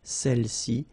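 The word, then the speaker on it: celles-ci: Feminine plural, celle-ci, okay, don't pronounce the final S, celle-ci, celle-là.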